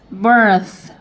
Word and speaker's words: birth: 그 다음에 th는 번데기 발음. 아랫니 윗니 사이 혀를 내밀고 바람 나가는 소리 하셔서 birth 이렇게 되고요.